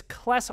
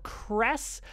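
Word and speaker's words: Cless: There's a little bit of controversy whether it's Kles or Kress, because of course it is the liquid consonant in Japanese that sometimes sounds like an L, sometimes sounds like an R, and is almost unpronounceable by Western speakers like me.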